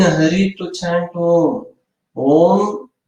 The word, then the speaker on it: Om: Om, there is a fourth syllable. Auma, fourth syllable is the silence.